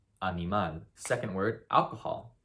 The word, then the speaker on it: animal: The correct answer is animal, animal. Second word, alcohol. How would you pronounce alcohol in Spanish?